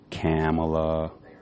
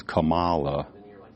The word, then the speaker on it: Kamala: people some white people they'll be saying her name wrong camela Cala you know people try to make you know cuz Camala you know it's in